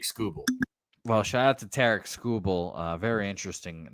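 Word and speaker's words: Tarik Skubal: I was like, that's oddly cheap for Tarek Skubal, which I learned apparently that's how you're supposed to say his name. It's Derek with a T.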